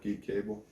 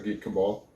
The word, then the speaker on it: Geek Cabal: It's always a pleasure to watch and be a part of Geek Cable. Cabal. I'll explain it here in a minute. It's not cable, it's pronounced Cabal. Okay, so Geek Cabal.